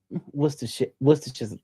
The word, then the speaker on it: Worcestershire: Okay, you're probably going to yell at me for trying to pronounce this. Worcestershire sauce. Did I say it right? That's it. Worcestershire.